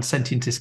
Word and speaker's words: sentientist: Sentientist.